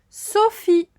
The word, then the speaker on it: Sophie: là c'est un prénom c'est le prénom sophie sophie et il y à un e muet à la fin so fit avec ph